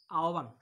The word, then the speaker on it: আহ্বান: যেমন আমরা যদি বলি আহ্বান, তাহলে দেখো তো আমরা আ ঠিক আছে, আর এই যে হ থাকলে সেটা উচ্চারণ হবে ও, তাহলে আও। আর এই ভ থাকলে সেটা হবে বা, বান, আহ্বান। ঠিক আছে প্রিয় শিক্ষার্থীরা, আমরা